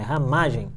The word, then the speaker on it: Ramagem: Acabaram de me dar uma dica aqui que o sobrenome é Ramagem, não é Ramagem, é Ramagem. A sílaba tônica é o Ma.